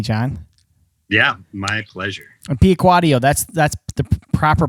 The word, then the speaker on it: Piacquadio: And Piacquadio, that's the proper pronunciation, right?